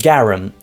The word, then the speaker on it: garum: It was called garum, which rhymes with harem.